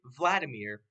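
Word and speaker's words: Wladimir: Vladimir but he's or he was German and so his name was spelled with a W instead of a V but it was pronounced with a V instead of a W because confusion confusing you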